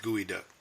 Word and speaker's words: geoduck: cool there you go gooey duck look at cool if you ever have and it's spelled geoduck GE ODU g.o.d uck but it's pronounced gooey duck yes you know if